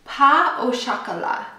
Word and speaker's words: pain au chocolat: Pain au chocolat.